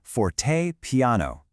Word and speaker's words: fortepiano: And just so you can say it like a pro, it's pronounced forte piano.